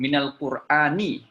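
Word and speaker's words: من القرآن: Kalau setelahnya itu ada huruf mati, maka nunnya dikasih fathah. Untuk apa? Littisolil qiraah. Agar bisa nyambung bacanya. Minal Qur'ani. Kalau dibaca min al-Qur'ani boleh, tidak salah. Tapi minal Qur'ani. Lebih mudah minal Qur'ani.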